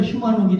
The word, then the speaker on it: 휴먼옥: 그래서 그걸 그냥 발음대로 하니까 휴먼옥이 된 거예요. 휴먼옥. 예. 근데 휴먼 오케이입니다. 단어는 휴먼옥.